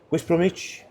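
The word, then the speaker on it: West Bromwich: and it's can you say it properly please whis bromich you'll be on Comedy stores if you're not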